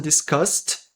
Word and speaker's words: discussed: As long as the person discussed. Enquanto a pessoa em discussão, a pessoa discutida. As longas as longas as longas the Você pode falar. Eu mesmo falo the person. Discussed. Não lemos este e.